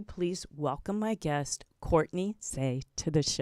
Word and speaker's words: Saye: you pronounce okay yeah it's just say nothing fancy yeah yeah I just wasn't sure if there was that extra e had something fancy attached to it but not it doesn't